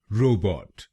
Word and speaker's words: robot: तो बनेगा रोबोट रोबोट रो बॉट रो बॉट रोबोट रोबोट। और ये ध्यान में रखिए कि हमको पहले शब्दांश पर यानी RO पर जोर डालना है। रोबोट रोबोट।